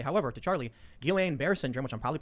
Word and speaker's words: Guillain-Barré: I will also say, however, to Charlie, Guillain-Barré syndrome, which I'm probably pronouncing wrong, it's a side I effect. always mispronounce it. Guillain-Barré.